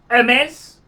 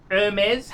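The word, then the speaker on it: Hermès: would be Goyard Goyard Hermes with a silent H. Hermes.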